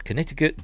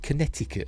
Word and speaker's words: Connecticut: More than 200 eyewitnesses in five states, Connecticut, Delaware, uh why did they pronounce it Connecticut? It's Connecticut.